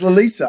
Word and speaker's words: Loleatta: So it's Loleatta, a la Vladimir Nabokov. I think we're all, in different degrees, fans of Loleatta Holloway stuff.